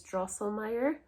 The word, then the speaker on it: Drosselmeyer: door to them he's I think the way to pronounce it is drosselmeyer uh German name so sorry if I'm buttering it and he makes these